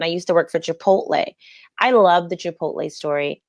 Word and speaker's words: Chipotle: and this is when people were still mispronouncing the name and calling it chapada like it's hard to believe that Chipotle hasn't just always been